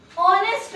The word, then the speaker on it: honest: बहुत सिंपल है, ये तो ए ही आएगा, पर ये गलत है, क्योंकि ऑनेस्ट में एच साइलेंट होता है, इसलिए हम यहाँ पे ए यूज नहीं करेंगे, एन यूज करेंगे।